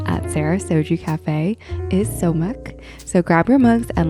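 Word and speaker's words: 소맥: So we're jumping right into it, but today we have somaek. I'm going to have James pronounce it the proper way.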